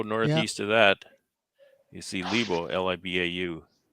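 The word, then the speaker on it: Libau: yeah okay go northeast of that you see Libo l-i-b-a-u H yeah but LeBlanc the Bible it's two-syllables oh you're not even zoomed in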